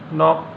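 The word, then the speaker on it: knock: हैं इसके बाद आपका के साइलेंट कब कब रहेगा जैसे कि नाइफ यानी चाकू नोक खटखटाना नकल यहां पे के क्या है साइलेंट है एल साइलेंट कब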